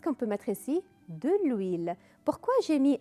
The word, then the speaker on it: huile: De l'huile. Pourquoi j'ai mis L apostrophe? Parce que le H est muet. Le H, ما تلفظ.